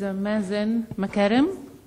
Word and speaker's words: Mazen Makarem: Okay, our next speaker is Mazen Makarem. I pronounced it right.